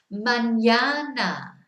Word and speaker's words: mañana: Mañana. Mañana. So remember, it gives it a sound as if there's a Y in there.